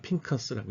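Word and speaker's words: פינחס: 비느하스는 이제 그 히브리 말로 핑커스라고 읽죠.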